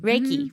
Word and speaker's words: Reiki: don't know is it my saying it right Reiki Reiki what could you tell us what Reiki is